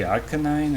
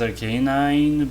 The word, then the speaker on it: Arcanine: another like rk9 uh some people say arcanine i think and some people like yeah like pokemon stadium cells are k9 but i think the anime says arcanine to me like it's